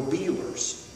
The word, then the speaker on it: Bueller's: And the Lord told me to go to Beeler's. It's spelled Bueller's, but they say Beeler's.